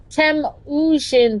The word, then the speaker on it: Temujin: Temujin, that's how it's pronounced.